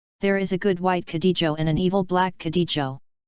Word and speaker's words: Cadejo: The Cadejo, Spanish pronunciation, Caexo, is a supernatural spirit